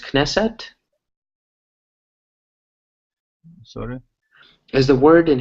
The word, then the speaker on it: Knesset: written K and E so is it pronounced Knesset sorta as the word in Hebrew is a correct pronounced the Israeli Knesset knesset knesset yeah there's a Knesset there so